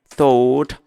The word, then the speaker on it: thought: Olha a pronúncia. Vai falar como se fosse a letra F, tá? Fall. Mas coloca a língua entre os dentes.